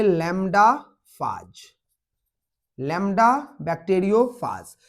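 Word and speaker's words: lambda: चलिए अब है यहां पे लैम्डा फाज, लैम्डा बैक्टीरियोफाज। इसको हम प्रोनाउंसिएट करते हैं लैम्बडा।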